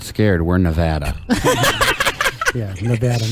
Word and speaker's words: Nevada: We're Nevada.